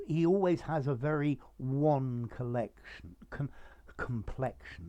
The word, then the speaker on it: WAN: see a wide area network one notice the different pronunciation is um a network